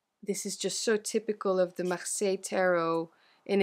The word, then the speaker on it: Marseille: So, you know, just to help you out, the English speaking world, it's Marseille. We pronounce it Marseille.